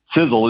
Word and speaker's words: Sisel: there in the name sizzle is spelled s-i-s-e-l for a lot of people they spell it s-i-z-z-l-e and i'll tell you what it's all it's not correct so s-i-s-e-l but the